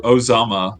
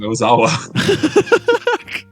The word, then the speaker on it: Ozawa: Yuko Ozama. Ozama. I am such a fake fan. And what's funny? I said it wrong. Ozawa.